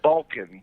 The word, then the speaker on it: Balkan: Balkan. B-A-L-K-A-N. Balkan. Oh, Balkan. Okay. Balkan with a B.